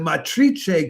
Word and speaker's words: Matrice: And the Matrice Quartet, I'm trying to pronounce it in the Spanish way, is Alina Sitnikava, Alicia